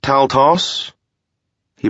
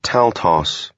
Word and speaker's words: Taltos: are baronet vlad of taltos he pronounced it taltos instead of taltosh so he must have